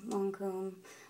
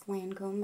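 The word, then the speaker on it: Lancôme: So this is my long comb. I always say long comb, it's Lancome, but I like saying long comb better, so you don't have to correct me. I do know I'm saying it wrong.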